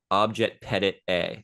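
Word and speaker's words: objet petit a: again whereas analysis is getting into the OB object Pettit a is how it's pronounced a lot of people don't know that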